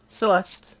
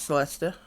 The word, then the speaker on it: Celeste: Celeste is the way I pronounce Celeste. it. Celeste. So silent E. Celeste. Okay. You could go other way though. Like, You could Celeste. pronounce it Celesta.